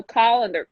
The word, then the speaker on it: colander: it's just like okay this is actually a colander that you want not a calendar and I'm like I don't understand the difference I said calendar she's like no call and their town they're calling there and we stay like for five minutes trying to figure it out this sure goes real